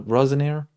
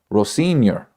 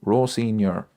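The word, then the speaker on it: Rosenior: Ro Ros Rosaneir. I can never pronounce his name.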